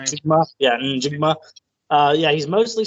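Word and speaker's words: Njigba: And how do you pronounce that last name? Jigma.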